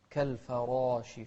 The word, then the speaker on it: كالفراش: كالفراش، شوف الراء مفخمة بعدها ألف في أعلى مراتب التفخيم.